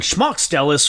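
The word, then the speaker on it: Šmaukstelis: pronounces his own name it's more of an sh at the beginning and it's more emphasis on the first syllable so schmuckstellis that's how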